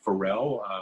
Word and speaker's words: Farel: under my name Ferrell last name spelled F is it ar e L pronounced like Pharrell the singer and I am you